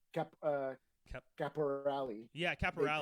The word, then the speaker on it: Caporale: mom does, uh, Caporale. But don't Yeah, actually. yeah, yeah, yeah. Then there's the because I grew up in Quebec, so there's the francophone way, which is Caporal.